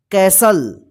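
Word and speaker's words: castle: सी H match का मतलब होता है मुकाबला कैसल कैसल का मतलब होता है कीला सी ए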